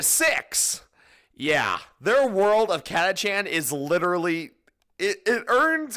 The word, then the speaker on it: Catachan: that way I'm sorry I always pronounced it and heard it said as katchan so that's how I'm going to say it the catachan jungle Fighters these guys